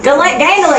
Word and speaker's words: Gandolin: Gandolin, because it rhymes with mandolin.